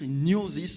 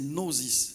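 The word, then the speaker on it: γνῶσις: s'appelle en grec nois on va pas lire nosis mais c'est noosis c'est comme ça qu'on lit ça on prononce alors c'est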